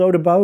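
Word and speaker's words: Eau des Baux: But anyway, this one's called Eau de Baux, and the only reason why I know it's called Eau de Baux is because I was corrected on that once as well. So I butchered it, and someone said, yeah, that's not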